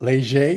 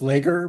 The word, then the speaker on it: Leger: Welcome to Bethany Leger, who I thought was Lager, but it's not that.